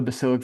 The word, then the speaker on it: basilic: Um but a good way just to differentiate the basilic versus foul because I mix those up all the time. Basilic sounds like bass. Bass rhymes with face.